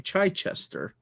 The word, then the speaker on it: Chichester: Is that how you pronounce his name? Chichester. Chichester.